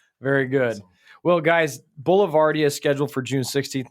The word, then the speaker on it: Boulevardia: But if you go to Instagram, TikTok, or Twitter, as Jess said, it's at BLVDIA, pronounced how? Boulevardia. Boulevardia. With the accent.